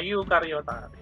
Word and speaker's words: eukariota: Ini bacanya eu ya, tulisannya eu tapi dibaca eukariota.